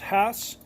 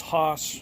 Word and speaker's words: Hass: Hass avocado yes I'm not mispronouncing it it's pronounced Hass although a lot of people believe it's Hass it's really not the original family that developed